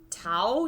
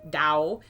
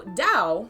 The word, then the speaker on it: Dao: lot easier to pronounce it's supposed to be pronounced like a d dao de jing instead of tao tae ching or king was one of the translations uh so dao the first word dao